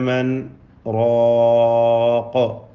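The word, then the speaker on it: مَنْ رَاقٍ: വഖീല മൻ റാഖ, അവിടെ ഇദ്ഗാം ചെയ്യാൻ പാടില്ല, വുജൂബൻ സക്ത ചെയ്തുകൊണ്ടാണ് ഓതേണ്ടത്.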